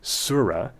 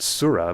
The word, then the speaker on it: surah: pronunciation of this word, surah, the nativized English way to pronounce that Arabic word on its own with the silent T, and the French pronunciation, not surah, but surat, from the form with the not-so-silent T.